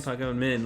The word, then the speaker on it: Pagan Min: That's how you say his name, Pagan Min.